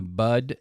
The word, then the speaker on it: bud: People say like nip it in the butt. Okay. Yeah. It's nip it in the bud, B-U-D.